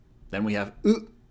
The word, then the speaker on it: う: In other words, it sounds just like U in Uno, the card game, or the number 1 in Spanish.